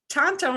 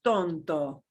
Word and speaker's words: Tonto: Here's a word that, ooh, we hear this geographically here, but Tonto National Forest is not Tonto. It is Tonto.